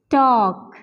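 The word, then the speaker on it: talk: करते हैं जरूर लेट तो ल का साउंड यहां पर बिल्कुल भी नहीं है टॉक इस तरीके से होगा ठीक है ल का कोई साउंड यहां पर नहीं है हम कहते हैं टॉक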